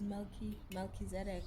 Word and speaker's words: Melchizedek: Is it pronounced as Melchizedek or Melchi?